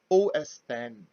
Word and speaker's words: OS X: the recent versions are known as os x pronounced os 10 and the specific versions